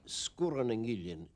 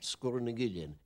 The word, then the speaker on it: Sgùrr nan Gillean: We pronounce it in Skye, Sgùrr and Gillean. Sgùrr has a long U normally, but when you put in the glide vowel between the two consonants after it, it becomes short, Sgùrr and Gillean.